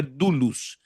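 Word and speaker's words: doulos: E agora ele, Paulo, usa uma palavra no grego, dulus. D O U L O S, que a pronúncia no grego é dulus.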